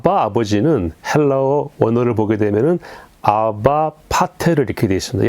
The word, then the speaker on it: 아바: 여기서 아버지는 헬라어 원어를 보게 되면은 아바 파테를 이렇게 되어 있습니다. 이 아바는 좀 발음을 세게 하면은 아빠입니다. 아빠.